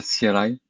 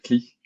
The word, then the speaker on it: CLI: So I'm going to pronounce it Scala CLI, as it's an English acronym for command line interface. But some people, I mean, you might hear it pronounced Scala CLI with the French E, CLI.